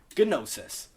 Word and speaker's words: gnosis: However, notice how there's that gamma there. So, in Greek, they would pronounce it as gnosis. But we don't really like that. That's like saying gnat. Doesn't quite sit right. That's not how you were